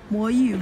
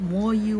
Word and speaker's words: MoYu: community a better place start now by saying boy you've a long instead of more you wait long ok so yeah the company is actually called boy you pronounce correctly and then the most popular cube series is wait long anyways guys I hope